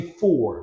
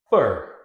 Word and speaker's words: for: So like in this case, we do not say for, we say fur, fur, fur.